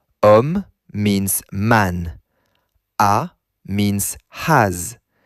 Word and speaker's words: homme: Normally, the before a masculine singular noun is le, but homme begins with a silent H. Because the H is silent, French treats homme as though it begins with a vowel sound.